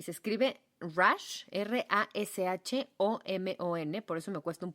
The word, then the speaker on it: Rashomon: A esto, señoras y señores con E, con A, con B y con C, se le llama efecto Rashomon.